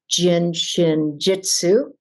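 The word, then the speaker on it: Jin Shin Jyutsu: been studying but really grabbed even more onto Jin Shin Jitsu aha that's how you say it which is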